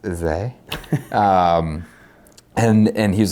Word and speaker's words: Izé: And then we took out the Izé hardware, because of course it's pronounced Izé.